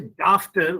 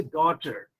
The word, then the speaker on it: daughter: have the same pattern we don't say dafter we say daughter so you see here